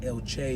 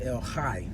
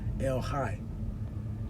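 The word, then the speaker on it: El Chay: word c-h-a-y i guess in english we would say el chei but it's pronounced el hai with a little in there right el hai and he's the living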